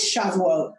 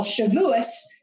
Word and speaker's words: Shavuot: this wonderful festival so what is shavuot which many of you call shavuos the yiddish pronunciation chevilus or shavuot is